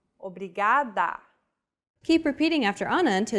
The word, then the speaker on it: obrigado: here in lesson two don't pronounce it like an English R don't roll your tongue listen to how Anna is pronouncing this sound the think of the quick tapping motion your tongue makes as it strikes the top gum Ridge in words like ladder or butter y altogether it's foreign